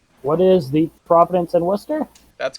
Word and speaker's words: Worcester: What is the Providence and Worcester? That's correct, and you pronounced it well.